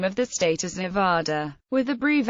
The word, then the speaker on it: Nevada: Many from outside the western United States pronounce it with the vowel of father Nida.